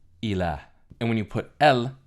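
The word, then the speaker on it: إله: The word for God, or something that is worshipped in Arabic, is pronounced ilah.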